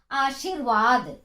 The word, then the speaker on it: आशीर्वाद: उच्चारण करके देखिए। आशीर्वाद व के पहले र का उच्चारण होगा।